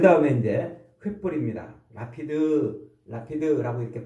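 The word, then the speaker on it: לפיד: 라피드라고 이렇게 발음하는데, 횃불은 재미있게도 이 횃불은 성경에서 많이 등장하지 않아요.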